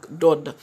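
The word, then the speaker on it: ض: C'est l'allongement du son lors de la prononciation de la lettre. Donc, Dod.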